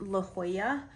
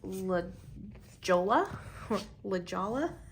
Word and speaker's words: La Jolla: talking about she was living in California and pronounced La Jolla as La Jolla and I kind of lost it because at